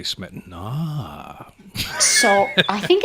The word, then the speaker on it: Smetana: I found differing pronunciations of his name. I always referred to him as Smetana, but when I talked to a friend who's Czech, they said Smetana.